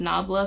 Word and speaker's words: Nabla: Y'all said it's pronounced Nabla, so that's what I'm gonna say.